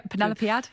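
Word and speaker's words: Penelopiad: There's Maline Miller's Song of Achilles, Margaret Atwood's feminist retelling of the Penelopead, I think, which is the pronunciation. Am I right? Yeah, Penelopead.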